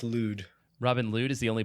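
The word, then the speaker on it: Lod: tack uh and Robin was it ludd I think this pronounced ludd Robin lud is the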